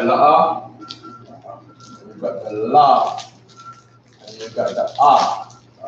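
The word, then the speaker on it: לא: La'a. La'a. Very good. Say it again. La'a. La'a is how you say no in Hebrew.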